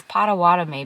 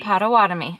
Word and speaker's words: Potawatomi: Let's look up how to pronounce it, because my mom says it's Potawatomi, but I'm like, isn't it Potawatomi?